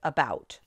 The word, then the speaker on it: about: And that tells me that the accent in this word is on the syllable bout.